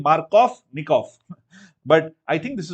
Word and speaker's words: Markovnikov: Germans, they pronounce V as F. Hence, I'm saying Markovnikov.